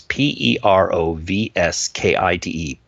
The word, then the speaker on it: perovskite: new all in organic para Paris kite I hope I'm saying that right it's PE ROV sk ite perovskite i Google listen to the pronunciation so I hope I have that right parasite solar cells so